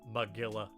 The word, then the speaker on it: Magilla: Well, you have to think logically, it's meant to rhyme with gorilla. Magilla Gorilla.